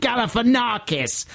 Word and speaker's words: Galifianakis: guess exactly all right i get the message it's zach galifianakis i'll never forget the thing is that it's spelt galifianakis and i think it's because i learned how to spell it i just felt so